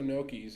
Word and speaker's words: gnocchi: G that throws everybody it's the GN that's what I mean